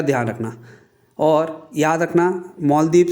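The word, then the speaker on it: Malé: और याद रखना मालदीव से रिलेटेड जो है MO, इसके स्पेलिंग दे रखी है मैंने यहाँ पे। ये प्रेसिडेंट है मालदीव के और इसकी कैपिटल जो है माले, MALE माले है।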